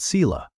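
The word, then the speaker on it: sīla: The first group he called Sila, say it like S-E-E law, and it means ethical conduct.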